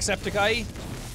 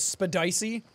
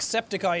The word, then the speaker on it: Septiceye: saying subscribe to Jack Septic Eye. The Jesus guy read it wrong and pronounced it as spedicy.